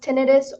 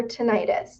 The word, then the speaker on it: tinnitus: tinnitus it is pronounced tinnitus or tinnitus those are both correct pronunciations so i say tinnitus